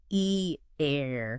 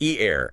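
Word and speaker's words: ایران: Well, in Farsi, it's more like E-air. E-air, emphasis on the second syllable.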